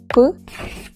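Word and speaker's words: ㅍ: Even though I wrote there that it's P and H, and usually, always actually, we pronounce PH in English as F. But let's forget about English, it's Korean baby, so now we're gonna pronounce it as P.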